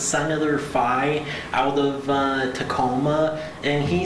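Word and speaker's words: Fein: F-E-I-N. Yeah. You wouldn't think you pronounce it that way, but it's actually Fye.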